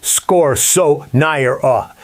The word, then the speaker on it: scorzonera: home and try it, scorzonera, pronounced score-so-nigh-er-a.